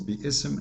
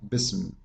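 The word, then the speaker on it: بسم: is there uh if when i say the word correctly it is be ism not bism bisim is very false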